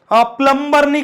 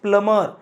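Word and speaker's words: plumber: यस सर माझ्या घरामध्ये प्लंबरने काम केलं माझ्या घरात जे नडाच काम केलं ते प्लंबर केलं दट नॉट प्लबर दट प्लमर बी it silent B it silent not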